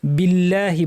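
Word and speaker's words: بِاللهِ: ভারি করা যাবে না বিল্লাহি বলার সময় আল্লাহ শব্দের লাম ভারী হয় কিন্তু যদি আগে জের থাকে যেমন এখানে বাজের বি আছে তাহলে পাতলা হবে বিল্লাহি বলতে হবে বিল্লাহি নয় মিনাশশিনকে জিহ্বার মাঝখান থেকে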